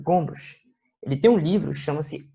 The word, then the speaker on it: Gombrich: Ele tem esse nome meio enjoado de pronunciar, mas é isso mesmo, Gombrich.